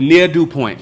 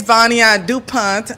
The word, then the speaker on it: Vania Dupont: to Shonda oh man we making it but near do Point am I pronouncing it right yeah so please tell people